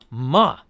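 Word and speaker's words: 骂: friend's horse awkward okay fourth tone that one is ma and that just means like that's means curse or scold or I don't use that one so much like you and and you actually say it like you would scold a kid m m that's the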